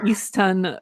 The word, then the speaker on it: Easton: It would give me multiple ecstatic orgasms if Davey would pronounce the TS in Easton Mountain just once. Thank you. So I always say Easton Mountain.